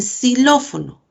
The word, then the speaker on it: xilófono: en silla, por ejemplo, y en xilófono. Fíjense que esta X se pronuncia como alveolar.